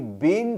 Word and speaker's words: been: हां, एक चीज और सबसे ज्यादा जरूरी है वो कि बीन का प्रोनाउंसिएशन लॉन्ग होता है, बिन नहीं। बिन BIN होता है, ये वाला BEEN होता है।